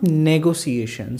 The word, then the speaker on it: negotiation: Number 30, N-E-G-O-T-I-A-T-I-O-N. It's not negotiation. So you need to pronounce this E. So the word will be negotiation.